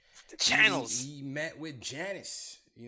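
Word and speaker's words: Giannis: channels he met with Janice Yanis that's probably honest they probably stay probably save like silent like Frank yeah yeah doing differently so not to sound like you know the G is silent man Yana saying you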